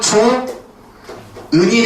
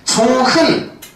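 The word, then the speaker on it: 좋은: 자, 이 예를 보게 되면은 자, 얘는 발음이 어떻게 되는 거냐면 조은이 됩니다. 얘는 발음이 조타가 돼요. 재밌죠? 왜냐면 얘가 모음으로 시작하기 때문에 원래는 조흔 이게 되겠지. 근데 조흔이 아니라 조은이 된단 말이야. 이때 뭐가 일어나냐면 히읗이 탈락해요.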